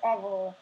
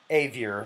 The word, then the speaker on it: Avior: Also, make sure to subscribe to Avor. Is that how you say it? Avor? Avior, like behavior.